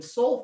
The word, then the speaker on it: sol: watch s o l s o l in soul fed spells out soul okay hey guess what